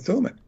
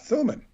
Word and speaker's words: Thummim: Now, but what's very interesting about Thummim, if you phonetically break it down in thum and thumb, it's very much related to thumb or thimble.